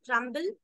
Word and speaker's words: crumble: So crumb is B, having B as silent, but crumble has the sound of letter B.